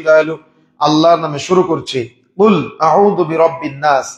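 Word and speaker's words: قل: কুল আউযু বিরাব্বিন নাস, এখানে কফ ব্যবহার করা হয়েছে, অর্থাৎ কুল উচ্চারণ করতে হবে।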